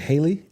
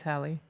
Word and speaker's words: Halle: Is it Haley? You're saying it wrong. It's Hie. Say it. Hie. Oh, she's a Hal. Like Halle Berry.